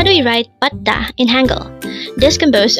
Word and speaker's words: 받다: 받다. Again, it's 받다. Again, it's 받다. This pronounced as a two-syllable word. The first syllable is 받, second syllable is 다.